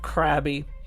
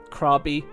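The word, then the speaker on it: Krabi: Escavalia, I traveled to the seaside town of Krabby, or Krabby as it's actually pronounced.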